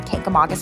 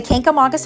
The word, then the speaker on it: Kancamagus: Hampshire once told me, if you can say August, you can say Kancamagus. So let's get started on the Kancamagus Highway. The Kancamagus Highway is a 56-mile